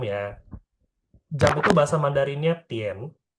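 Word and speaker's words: 点: Jam itu bahasa Mandarinnya Tien. Jam itu bahasa Mandarinnya Tien. D I A N.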